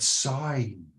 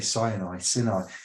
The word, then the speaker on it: Sinai: This is where we derive the word Sinai. I'm going to say Sinai, which is a mountain.